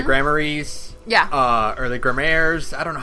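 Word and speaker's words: Gramarye: how you pronounce it it's spelled g a m a r y e and I know it's pronoun it's the name comes from the word grimoire like the like a gmor like a like a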